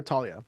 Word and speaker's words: Thalia: Thalia or Talia? I have said Talia my entire life, and then the show started saying Thalia, and I got in the habit of saying Thalia more often, but both come out.